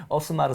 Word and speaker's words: 오스마르: 저는 서울의 오스마르 선수요 오스마르 선수 발음이 오스마르 선수 스페입니다 스페 에스아네 오스마르 선수